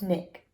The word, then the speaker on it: SNCC: Student Nonviolent Coordinating Committee or SNCC pronounced Nick the group help sit-ins